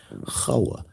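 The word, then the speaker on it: חוה: Listen to how I said it. Chawa, Chawa, Chawa. Tazariak, there is no hard K. There is no kapf.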